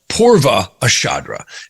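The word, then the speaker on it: Purva Ashadha: to join the next nakshakra back which is pronounced purva ashadra and many people do pronounce these differently but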